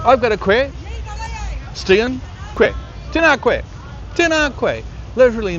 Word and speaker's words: koe: But the best way I think to think about how to say it is to take the word question and to miss out the stion.